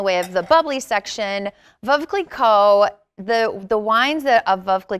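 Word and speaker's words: Veuve Clicquot: labels in the way of the bubbly section vova Coleco the the wines that vocally called that come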